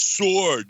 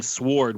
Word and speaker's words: sword: fools pronouncing sword its sword you don't say the W and you were like